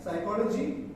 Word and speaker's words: psychology: And in pneumatic psychology, a receipt, P is silent.